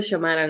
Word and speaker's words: Xiomara: Así se pronuncia Xiomara, ¿no?